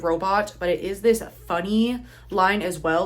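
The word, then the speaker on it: Phuny: So, this is again Kid Robot, but it is this funny line as well, like P H U N Y. So, I'm pretty sure it is just pronounced funny.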